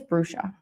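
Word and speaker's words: Bruxa: I do know it's Portuguese. This is an extra card in this deck. It's called I think it's Brusha. That's how it's pronounced.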